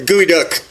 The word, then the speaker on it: geoduck: A gooey duck. It's usually the real word is spelled almost like geoduck.